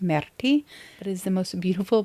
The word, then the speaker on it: Myrtille: I've been calling it Myrtle because to me that's how it's spelled, but it is French for blueberry and I believe that it's pronounced Myrtille.